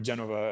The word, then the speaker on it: Genova: the kuruji district in genoa or genova as they pronounced it in italy but it's it was